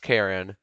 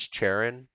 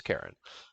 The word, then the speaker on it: Charon: yes it is pronounced karen i had to search it up and um there's also a british pronunciation which is charon i think cheren something like that but the american pronunciation is karen karen's name originates from